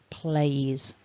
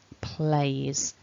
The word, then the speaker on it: plays: in the base form our letter s that we write to show it's he she or it is actually pronounced as a zed sound as is a voiced